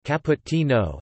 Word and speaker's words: cappuccino: A cappuccino, listen, Italian pronunciation, cappuccino, Italian plural cappuccini, is an espresso-based coffee drink